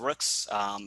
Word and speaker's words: Rooks: why our meaning of Rooks. So it's actually pronounced Rook, and it means to go very far.